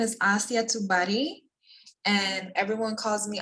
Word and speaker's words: Assi: pronounce your name because i don't want to pronounce it wrong okay so my whole name is asiya tubari and everyone calls me asi asi love